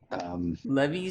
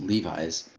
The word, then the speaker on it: Levi's: what is this what have you just said levy Super Mario collection yeah Mario clothing also it's pronounced Levi's one cat's name wrong and then he's like